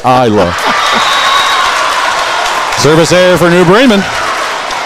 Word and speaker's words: Isla: She spelled it out. EYE-LA, Isla.